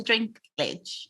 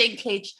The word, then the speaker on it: Dinklage: they did especially um is his name peter drink glitch dinklage um drink glitch dinklage dinky i knew i was saying it wrong peter dinklage deserves an emmy for trying he was trying